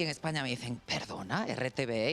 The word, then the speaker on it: RTVE: tu caso Beatriz Cuántas noticias puedes mandar para rtve lo pronunci bien muy muy bien marcas ahí í pronuncia digo rtv y en España me dicen Perdona rtve y digo no perdón es r pero la